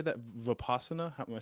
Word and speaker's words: Vipassana: Vipassana? Am I saying that correctly? Vipassana meditation, yes.